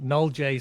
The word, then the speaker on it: NoleJ: here um yeah no null J sounds kind of French and we're a French company but it's it's it's knowledge um um and it's